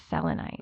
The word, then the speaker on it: selenite: Oh, that's selenite. Selenite. Selenite. I actually have selenite with me, which is kind of interesting.